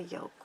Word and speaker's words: yoke: section right here is called a yoke, Y-O-K-E. It sounds like an egg, but it's spelled differently.